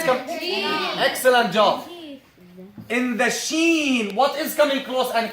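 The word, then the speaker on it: ش: In the sheen, what is coming close and closer? In the sheen, the tongue, right?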